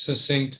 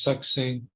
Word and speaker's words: succinct: One is succinct without a K, and the other is succinct with a K sound, ka.